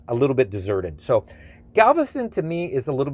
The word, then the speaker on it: Galveston: bit of trivia for you is it's not pronounced galveston it's actually galveston galveston is an actual spanish name the city